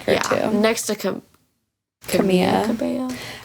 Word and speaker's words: Camila: Next to Camila. Cabello. I think it's Camilla. Yeah, I'm pretty sure the L is silent.